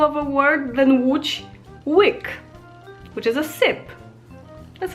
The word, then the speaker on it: łyk: And when you compare it to English, you can compare the letter E with a W, because it's a very similar sound. And now an easier example of a word than Łódź, łyk, which is a sip.